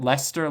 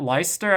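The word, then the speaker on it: Leicester: in cities like leer am I pronouncing that leester leer Lester Lister um yeah that ler I think is the right pronunciation like to destroy they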